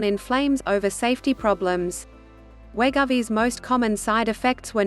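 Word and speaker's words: Wegovy: fda said patients inject wegovi pronounced we go v weekly under their skin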